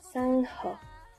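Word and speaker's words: 상어: Cela se prononce précisément Sangho et s'écrit ainsi.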